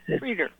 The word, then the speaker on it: Frieder: It's Frer. Freeder. Freeder is good.